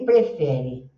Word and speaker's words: prefer: É sempre aquele sonzinho quando tem uma perninha que é o e esses dois pontinhos estão falando para você esticar esse som.